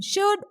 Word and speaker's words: should: Similarly, in should, L is silent.